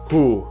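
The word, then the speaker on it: hoe: vanders I know it's written ho but it's pronounced who as well the French version of saying the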